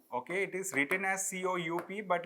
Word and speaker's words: coup: Okay, it is written as C-O-U-P, but like we read it as C-O-U, coup. Because P is silent.